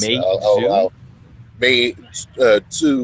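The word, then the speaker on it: Meizu: and uh how do you how do you pronounce this company's name I've always said Mau someone said that that wasn't correct yeah it's May May Mau but it's May two with a it's a light J oh okay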